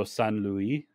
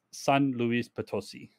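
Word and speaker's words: San Luis Potosí: trip over it is because I tried to pronounce it like the French way so s Louie but it's s Lis pososi okay and S Luis ptoi is just the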